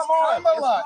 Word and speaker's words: Kamala: Let me actually pronounce her name right. Kamala Harris. If Kamala. You said it was Nancy. It's Kamala.